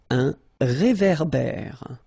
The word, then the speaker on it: réverbère: Final E not pronounced. Un ré, so here you've got this accent aigu, et, and then here you've got this accent grave, e, okay? E, so it goes like ré, ver, ber, okay?